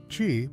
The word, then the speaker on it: qi: Qi, pronounced qi, is the vital life force energy that flows through all living things, according to Chinese philosophy, not just Taoism.